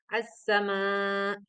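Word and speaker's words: السماء: Lam diikuti huruf nun pelafalan bacaan alif lam syamsiah disebut juga Idgham Syamsiah Hal ini karena suara alif lam dimasukkan ke dalam salah satu huruf Syamsiah yang ada di hadapannya suara alif lam menjadi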